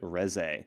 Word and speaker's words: Res: brought it up said I want my name pronounced correctly. Oh great. I want I want to do them just it is res. You'd say it res.